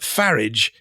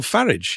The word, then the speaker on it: Farage: Someone's just said that Farage is also a correct pronunciation. Thanks, Warren. That's great. Someone's written rides in a carriage. Nigel Farage.